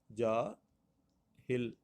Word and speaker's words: جاہل: جا آہل نہیں ہے، جا آہل نہیں ہے، اور جا اہل نہیں ہے، بلکہ یہ کیا ہے؟ درست اس کا جو تلفظ ہوگا عزیز طلباء و طالبات تو وہ ہوگا جاہل، یہ جاہل لفظ ہوتا ہے۔ تو آپ نے